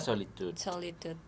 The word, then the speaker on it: Solid.ud: Bacanya solitude.